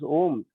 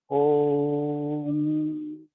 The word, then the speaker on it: Om: divided into 3 parts, 3 letters roughly, that is called A plus U and M. And the 4th letter is actually, they are telling the 4th part is a silence. So when we actually pronounce Om, Om, then there is a silence, the 4th part.